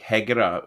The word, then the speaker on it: Hejira: i think it's uh i don't think it's got a j right in the middle i think it's got a g in the middle like heger obviously not pronounced like that in arabic which means to to